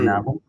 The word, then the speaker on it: Goedenavond: Okay, so that's a silent G or a who sound. Like you're clearing your throat.